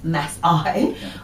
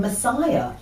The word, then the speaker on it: Maasai: email in to say is your guest referring to Maasai pronounced mess I or some other tribal Nation you seem to be saying Messiah I'm sorry if you